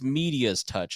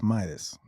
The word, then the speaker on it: MeidasTouch: legal AF M's touch yeah touch but it's media's touch is how it's spelled yes the mest touch that's how it's pronounced the mest touch yeah m d a s touch yeah that's Midas oh media is me oh I was like